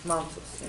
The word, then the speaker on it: Mantoux: Mantoux. It's yeah. French. Yeah, Mantoux.